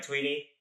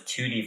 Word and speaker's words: Thuydy: So, your name is Tweety, right? Yeah. I'm saying it right, Tweety. Yeah. I thought it was Toty for a second. Okay. Yeah, that's what the Americans call me.